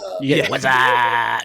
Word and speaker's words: Wassup: Or I'm not even saying it right. Wassup. Wassup. Wassup. You gotta get the deepness in there.